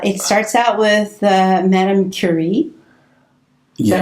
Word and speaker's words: Curie: It starts out with Madame Curie.